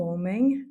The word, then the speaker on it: homem: Il y a les terminaisons i, em, par exemple, o jardim, donc attention à ne jamais les prononcer, c'est M à la fin, ou homem, comme on a vu tout à l'heure, ou jovem, et enfin o perfume.